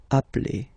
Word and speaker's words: appelle: So when you get this E vowel and then you get a double consonant, and well, they are the same, then it does change the pronunciation of E. You tend to pronounce it like really open.